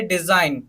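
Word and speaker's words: design: मतलब क्या होता है त्यागपत्र थर्ड एग्जांपल देखिए डिजाइन they S आई जी N okay तो यहां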